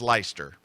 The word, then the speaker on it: Leicester: Riaz is asking me, Scott, how do you pronounce, I'll spell it, Leicester? Well, now, it looks like, to an American, it looks like Leicester, but I know that it is Leicester.